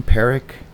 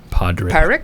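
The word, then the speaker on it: Pádraic: you say his name parrick Padre Parikh yeah p-a-d yeah but they say it they don't say the D yeah something like that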